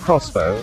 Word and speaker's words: X-BOW: Its name is pronounced Crossbow, inspired by the weapon of the same name.